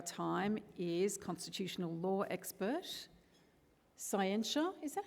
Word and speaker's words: Scientia: issues of our time is constitutional law expert, Scientia, is that how you pronounce it? No, tell me, I need to get these things right. Oh, Scientia, that sounds Latin.